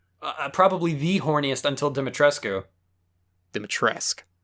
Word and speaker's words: Dimitrescu: Dimitrescu. Oh, you don't pronounce the U? No. Weird. Okay. It's a, European thing.